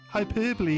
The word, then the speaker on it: hyperbole: Hyperbole is how you say hyperbole.